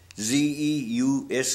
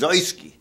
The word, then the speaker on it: Zeuske: u s k e actually real pronunciation is zoyski but in the army they always call me zeus because zeus is in key see i just went along with it but it's a german name zoeski see which is